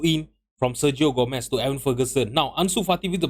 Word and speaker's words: Evan Ferguson: by everon Evan Ferguson why am I always pronouncing his name as Everson it's Evan Ferguson with our first goal